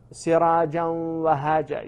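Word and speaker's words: سراجا وهاجا: So, sirajan wahaja, you know, they don't know that's idgham. But they don't say sirajan wahaja. They don't pronounce that noon.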